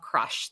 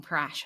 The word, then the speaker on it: Crush: No, no, it is Crush. Sorry. It's Crush the Sea Turtle, right? Yeah. Yes. Yep. Yeah, I said it wrong. Oh, did you? I was like, maybe I call him Crash.